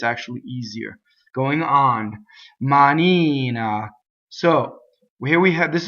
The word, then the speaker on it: manina: word for single n the accent is on the e vowel right ma Nina so we tend to sing money na so double n right so same thing double